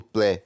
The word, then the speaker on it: plaît: Então, o T no final do plaît, aqui, s'il vous plaît, esse T, a gente não fala ele, tá?